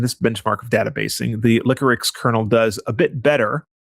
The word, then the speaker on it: Liquorix: So for those that don't know, Liquorix or Liquorix, I believe, is actually how they spell it and pronounce it.